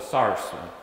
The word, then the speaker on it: sauce: They usually would cook vegetables to what they call the sars. We spell it sauce.